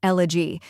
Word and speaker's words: elegy: elevator next is a a quick unstressed vowel sound like the a in sofa finally G which rhymes